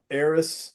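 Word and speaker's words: Eris: And then I would count Aerys along with that. That's E R I S.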